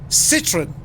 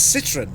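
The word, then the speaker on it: Citroën: let's agree to disagree citron that's fairly straightforward or is it citron it's citroen yeah or do you say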